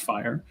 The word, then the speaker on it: FHIR: fast healthcare interoperability resources fhir pronounced fire is a specification uh